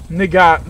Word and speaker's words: Nagant: Nigat, the T is silent. Really? Bun. I love how we've got five say it out loud. Tank squads. Yeah, Nagant? Yeah, the T is silent. It's Russian.